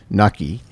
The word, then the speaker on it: Knuckey: Knuckey. That's correct, right? The K is silent. The K is silent. And it sounds like lucky.